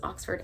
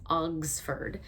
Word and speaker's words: Oxford: He mispronounces Oxford as Ogsford.